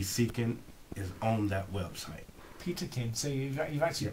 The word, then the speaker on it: Peterkin: what it is so difficult for people to pronounce my name they call me everything but peterkin okay and I like you know what let's